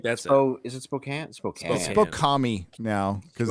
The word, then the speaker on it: Spokane: I mispronounced word. so Spokane. badly. I think that's it. Oh, is it Spokane?